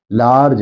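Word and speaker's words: large: तो भले ये इ बाद में दिया हुआ हो लेकिन इसका उच्चारण नहीं होता है। जी हां, इसका उच्चारण नहीं करते। बोलते हैं तो सिंपल लार्ज है।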